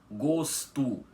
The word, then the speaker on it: gosto: Porque vocês podem reparar que nós não pronunciamos menino gosto com a letra O com som de o mesmo, um fechado, o invés disso, pronunciamos com som de u. Assim, menino gosto.